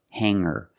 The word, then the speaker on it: hanger: these words with ER I don't pronounce the G sound it's just the nasal linked together with the ER together hanger there's no good sound I cannot say hanger I cannot say singer hanger and singer example he has hangers